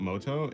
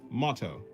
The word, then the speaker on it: motto: Yeah, it's not It's not moto. It's motto. Right. True. That word is motto.